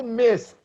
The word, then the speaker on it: missed: miss missing okay only missed you don't pronounce e we talked about these in the pronunciation of the past tense of regular verbs sed you pronounce st missed okay I can have